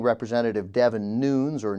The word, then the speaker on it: Nunes: Representative Devin Nunes, or Nunez, that's spelled N-U-N-E-S, a Republican of California.